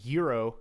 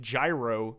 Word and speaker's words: gyro: another word for something okay so yeah like euro is the way to pronounce it in and that's closer to the group like Greek way to pronounce it but like gyro is an Americanized version tons of countries have